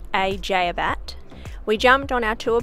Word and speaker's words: Eceabat: From the ferry terminal in ECEABAT, pronounced ECEABAT, we jumped on our tour bus and drove over to the other side of the peninsula to Anzac Cove.